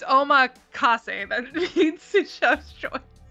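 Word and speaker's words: omakase: Makis is a it means uh like chef's choice or whatever because you were pronouncing it wrong. She keep saying that. Yeah, it's omac that means chef's choice.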